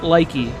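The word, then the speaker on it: lychee: Okay, just FYI, right before we get into this little drink thing, you pronounce it likey, not leche.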